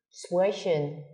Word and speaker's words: sprechen: Sprechen, nói. Ở động từ này phát âm khá là khó. Sprechen nó có tận hai cái âm, âm phụ, âm gió. Sprechen.